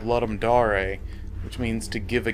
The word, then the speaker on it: Ludum Dare: game was made for a game jam called let'em da-rae which means to give a game in Latin everybody calls it Ludum dare because that's how it looks like it should